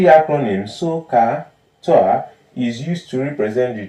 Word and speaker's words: SOHCAHTOA: This is how we pronounce it. SOHCAHTOA.